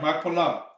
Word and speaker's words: Machpelah: And the field of Ephron, which was in Machpelah. Right. You said it right, Machpelah.